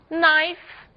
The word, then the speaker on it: knife: m por que ausência as letras g e k não são pronunciadas quando seguidas da letra N apenas o n é pronunciado então nós temos agora